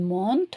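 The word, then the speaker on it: montent: Il monte, so it's a kind of ENT, but we don't pronounce it.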